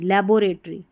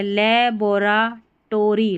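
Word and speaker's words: laboratory: रे, टरी, TORY टरी, लेबोरेटरी, ऐसे करें। यहाँ पर है लेबोराटोरी, लेबोरेटरी, ये वाला उच्चारण है ना, ऐसे मैंने बताया वैसे करें, ऐसे नहीं, ठीक है, लेबोरेटरी, लेबोरेटरी।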